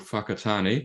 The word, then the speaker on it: Whakatane: So I'm based in a very small town in New Zealand called Whakatane, and I'm not swearing when I say that.